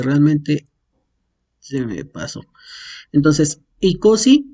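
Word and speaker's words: εἴκοσι: Entonces, si encontramos un diptongo que es EI, se pronuncia solamente I. Ejemplo, tenemos ICOSI.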